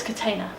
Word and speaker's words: Catena: a little bit different so how do we pronounce the wines it's Catina contain them yes so I'm Katina wine is potato potato potato and it's my